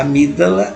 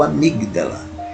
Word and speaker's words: amígdala: fronteira com a amígdala a gente pode podemos pronunciar amígdala ou amigdala e tem um papel